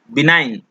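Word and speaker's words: benign: ठीक है, इसको बोला जाता है, सॉरी, बिनाइन में मूक अक्षर क्या है? ठीक है, तो इसमें जो मूक अक्षर है वो जी है, जी। बिनाइन, जी का उच्चारण यहाँ पे नहीं किया जाता है।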